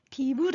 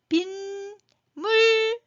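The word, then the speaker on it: 빗물: 비물 안 해요. 빈물 하면서 앞에 뒤에 첫 소리 미음이 있는데 앞에서 니은이 덧났죠.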